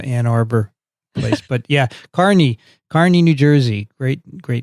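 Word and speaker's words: Kearny: we have a town called k-e-a-r-n-y and we pronounce it carney so i knew how to do that it's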